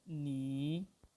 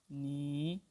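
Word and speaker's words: 你: wrote this okay like i wrote second tone on knee knee why because if two third one syllables follow each other then the first third one syllable changes into second tone and the second third and silver remain at its own place so knee see a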